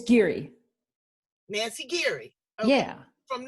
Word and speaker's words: Giere: Am I pronouncing your last name correctly? It's Giere.